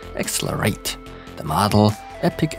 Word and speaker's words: XLR8: In fact, we're dealing with their gaming brand named XLR8, or probably how it's supposed to be pronounced, XLR8.